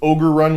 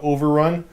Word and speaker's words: Ogre Run: Josh, it's Ogre Run with Ogres, not Overrun.